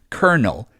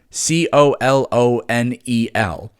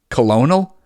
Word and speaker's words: colonel: But it's pronounced Favre. Get over it. Colonel. C O L O N E L. Colonial.